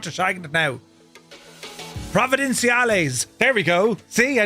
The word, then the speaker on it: Providenciales: uh lineage 1000 for a flight out of Provenencial A all the way over to Princess Juliana. I got the pronunciation right earlier. I'm not shagging it now. Providencees.